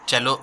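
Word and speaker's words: cello: I play चेलो इन the orchestra, मैं चेलो बजाता हूँ, प्ले करता हूँ किसमें, ऑर्केस्ट्रा में। देखिए ये जो वर्ड है इसका प्रोनाउंसिएशन होता है चेलो, ठीक है, सेलो लिखा हुआ है लेकिन आप इसको चेलो पढ़ेंगे, ठीक है।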